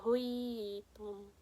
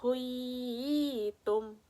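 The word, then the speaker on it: حُيِّيتُمْ: Jadi bacanya itu seperti ini. Wa idza huyitum. Huyitum. Jadi yang ya sukunnya ini kita tekankan dengan cara memanjangkan selama 2 harakat.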